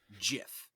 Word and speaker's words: GIF: said that the creator of it called it Jif and I'm like who am I identify this